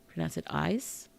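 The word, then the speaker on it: ASCII: Okay, so we pronounce it ICE. It's a shorthand of the American Standard Code for Information Exchange.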